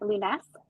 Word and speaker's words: Lounes: name is Lunas so it's a little bit of a French pronunciation um I had I